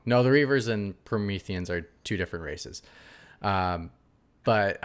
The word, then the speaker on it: Promethean: Wow, I think I pronounced it wrong. Promethean.